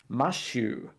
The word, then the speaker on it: Matthew: So when you pronounce my name with a Japanese sort of pronunciation, style of pronunciation for my name, it is Mashu, not Matthew.